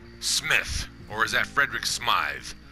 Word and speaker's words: Smythe: You know, you can debate that with the letter E on the end. It makes it Smythe. Some people might still debate. Nope, that's pronounced Smith. And don't you say anything different, darn it.